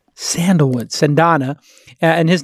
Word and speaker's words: Cendana: He runs something called Cendana? How do you pronounce it? Cendana. Cendana. It's a Malaysian word for sandalwood. Sandalwood, Cendana.